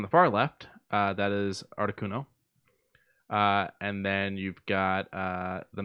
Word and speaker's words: Articuno: Articuno.